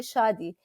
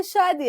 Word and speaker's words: Shadi: So as we begin, right, Shadi, and I know we joked about how Shadi actually means marriage, right?